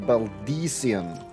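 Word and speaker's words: Baldesion: The Baldesian Annex, alright. I said Baldesian for the longest of times until I really heard this. They are calling it Baldesian.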